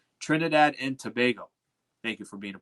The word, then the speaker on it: Trinidad and Tobago: They even helped me pronounce it because I think I was pronouncing it wrong. Trinidad and Tobago.